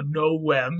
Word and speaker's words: novem: Novem, the V sound, or rather the V letter in Latin was a W sound. So novem is how that would have been pronounced.